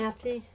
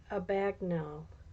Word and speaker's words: Abagnale: I'm not- Abernathy? Aborigine. Okay. No offense, review time. No, Abagnale.